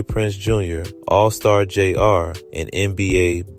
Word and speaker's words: JR: It's And I was saying his name wrong, it's not All Star Jr., it's All Star JR.